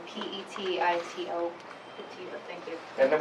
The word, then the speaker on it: Petito: Can you pronounce her last name for us? Sure, it's Petito, P-E-T-I-T-O.